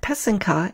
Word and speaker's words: pysanka: comical communication I mentioned in episode 1 that pesum kah is the singular for Ukrainian eggs using the